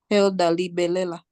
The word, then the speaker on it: Hilda Libelela: if I'm pronouncing the name correctly. Hilda Libelela. Hilda, please share with us Yes. who inspired you. Yes, you are pronounced correctly, and good morning, everyone.